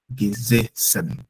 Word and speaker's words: gesessen: I said gesessen because the first S stands alone, but the second S is double. So when it's double, it's pronounced at beta sound, which is a sharp S. Okay, but the first one is alone, which is geze. S alone is set.